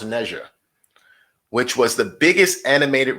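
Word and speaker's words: Ne Zha: had neja or nazar i believe it's called pronounced naija which was the biggest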